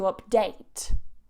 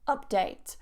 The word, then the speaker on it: update: The first one we have is to update. Update. So the stress goes on that second syllable, to update. If you put it on the first syllable, update, it becomes a noun.